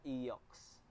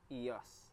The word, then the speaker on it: EOS: yung model non eos hindi siya eox eos so yun yung pronunciation para sa mga rurok